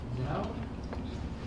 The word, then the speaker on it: Zinno: Zeno? I might have gotten your name wrong, sorry. No, you got it right. Okay, good. And then Lori Duckworth? My name's Zinno.